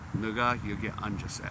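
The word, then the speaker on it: 누가: There there is a a Korean word that sounds like the nword. So the word you I mean it's pronounced like nuga you get unjust like like one time on a bus.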